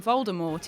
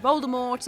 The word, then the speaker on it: Voldemort: that told us all the tea in Voldemort is silent too Dumbledore is death in